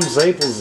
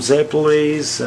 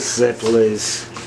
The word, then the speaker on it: zeppole: bag of staples and we all call them zaples as kids but they're actually some people call them zepolis and i was told the proper pronouncing is ziplise so is what it